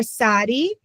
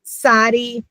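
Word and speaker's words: צדי: I'm going to have you do the ts. Sadi. Sadi. Okay. Some people and in older schools they teach TZ, but just try it yourself. Try to do TZ together.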